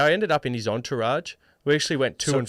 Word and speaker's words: entourage: from the event together Entourage I think it's Entourage it's like a French word it's almost it's a soft G are you sure yeah not it's a soft G not a hard G on I was in